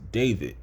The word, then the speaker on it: D4vd: That's how I thought it was pronounced, but it's David.